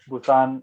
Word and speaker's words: Busan: call it Pusan National University because it was built maybe 80 years ago or something. So at that time Mm-hmm. it was P. Now the modern city of Busan is spelled with B.